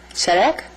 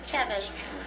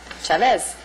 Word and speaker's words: Chavez: Well, we go to Sharek? How do you say your last name, honey? Chavez. Oh, my gosh. Oh, that's a V. No, that's okay. Chavez.